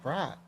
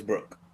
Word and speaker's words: Brook: does he Brooke. say His name is Brooke? Brooke. Brooke. They were saying Brock.